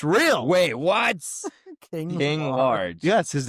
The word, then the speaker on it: King Large: King Large. Yes, his name is King Large. He and plays it's as spelled like LARGE. ARGE. Like I'll get a large Diet Yeah, Coke from like- McDonald's.